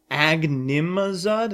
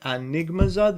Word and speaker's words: Agnimazud: Oh my god, wait, is this card Agnimazud? And I've been saying it Enigmazud this whole time? Oh my god, how embarrassing that I've been mispronouncing a True King name!